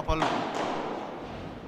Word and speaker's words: pallone: Secondo me giocava pallone. Quindici pari. da giocava a pallone si capisce l'origine bresciana. Sì. Come giocava a calcio, preferisci? Non a pallone, con l'accento sulla O. Pallone.